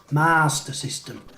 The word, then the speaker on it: Master System: going with the mispronunciations there's no r between the a and the s in master it's not mars master system leif retro 1 and